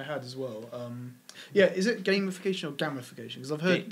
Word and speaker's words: gamification: Is it gamification or gamification? Because I've heard people say... I think it's gamification. No, gamification. I've only ever heard gamification. It's spelled gamification, but it's pronounced gamification.